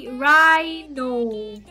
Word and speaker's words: rhino: Rhino. Rhino is weird. Rhino is R-H-I-N-O. So I guess the H is silent.